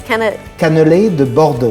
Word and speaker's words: cannelé de Bordeaux: How do you pronounce it again? It's cannelé de Bordeaux. Cannelé de Bordeaux.